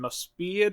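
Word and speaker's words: Mospeada: mcross Southern Cross and mospa I want to say it's pronounced mospa or something like that and then when it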